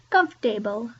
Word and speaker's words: comfortable: But really, it's not comfortable, it's comfortable, comfortable, comfortable. So it's not comfortable, it's just comfortable, comfortable. Okay. So we actually lose a syllable there.